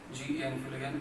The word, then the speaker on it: Feulgen: Spelling में कर देता हूँ, बोल देता हूँ, R.FEULGEN फ्यूलगेन एंड H.